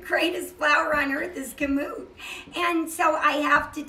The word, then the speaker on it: Kamut: using what you're using do you pronounce it commute or commute it's kamut kam Utena coming and what it is it's an Egyptian word for wheat that's what it